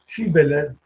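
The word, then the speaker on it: Hibbeler: Este texto es el Hibeler, se escribe H-I-B-B-E-L-E-R, Hibeler.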